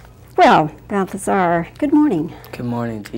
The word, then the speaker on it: Balthazar: Well, Balthazar, good morning. Good morning to you. I think you're the first person I've ever met who's named Balthazar. Am I saying it right? Balthazar, yeah.